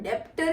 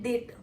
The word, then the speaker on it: debtor: अब usually डेटर की spelling होती है DEBTOR, तो डेप्टर नहीं बोलते हैं, उसको बोलते हैं डेटर।